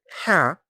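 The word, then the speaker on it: حاء: Ha, the sixth letter and has no dot. Its sound comes from the middle of the throat and is soft and gentle.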